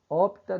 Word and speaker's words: opta: Veja, pessoal, cuidado que muita gente fala o verbo optar. Não é. O P é mudo, então dê a força tônica na pronúncia na sílaba O.